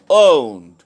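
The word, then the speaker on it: won't: Okay, third one ইজ I will not. Spoken ইংলিশে আমরা I will not বলবো না, আমরা কথা বলার সময় আমরা বলবো দুটোর একটা বলবো আইল নট অথবা আই ওন্ট।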